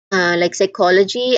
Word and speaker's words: psychology: It also functions as a silent letter at some words, like psychology and pneumonia.